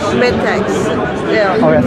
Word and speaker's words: Metex: How do you pronounce it? Metex or Metex? Metex.